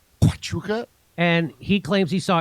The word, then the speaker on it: Huachuca: He was at that Camp Chahuka. Is that how you say it? Wahuka? Huachuca. Wachuca. That's how you say it. Huachuca.